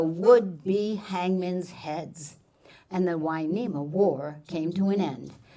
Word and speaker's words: Hueneme: Hueneme, spelled with an H and U to make the W sound. The story goes that when the Spanish came and met the Chumash, they heard the name Hueneme and wanted to record it.